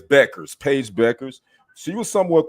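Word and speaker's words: Bueckers: I was saying Buers, but it's Beckers.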